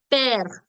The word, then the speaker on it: père: Père, mère, frère. All of them have an accent grave on the letter E, which makes the sound air. So père, mère, frère.